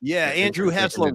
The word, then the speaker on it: Hessler: Yeah, Andrew Hessler rhymes with Tesla, but don't trash his car.